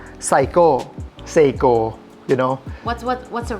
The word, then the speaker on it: Seiko: Seiko, you know. What's the right one? What's the correct In Thai, we call Saiko. Saiko, but in Japanese, we call Seiko.